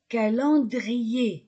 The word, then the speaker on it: calendrier: lampe une lampe un calendrier calendrier e n calan calendrier je ne prononce pas le r cendrier un mur un